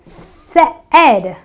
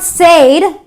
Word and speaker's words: said: the e or the EA are for example said I have an a I but yet I pronounce the word using the air the shot